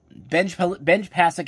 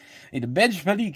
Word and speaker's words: Benj Pasek: Am I even pronouncing that name correctly? Benj Pasek and Justin Paul. What the hell was I saying beforehand? Benj Pasek and Justin Paul.